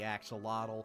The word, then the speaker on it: axolotl: This is the axolotl, or if you want to pronounce it like the native zoo, axolot.